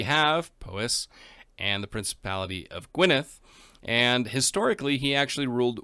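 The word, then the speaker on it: Gwynedd: at prince blethen of gwyneth that's right i read and see how to pronounce the double d and apparently it's a th so if that's wrong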